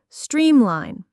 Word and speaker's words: streamline: The pronunciation is simple with stress on the first syllable. Streamline.